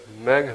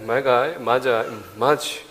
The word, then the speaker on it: Magi: The Bible says they're Magi, Magi, whichever from the region you're from, you can pronounce it either way you want.